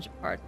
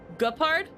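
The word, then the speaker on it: Gepard: Like, it's a hard G in Japard. Guh. Like, guh. Not gur. Gupard?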